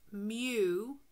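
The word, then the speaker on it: μ: This symbol is pronounced mu, and is the mean of all values in a population.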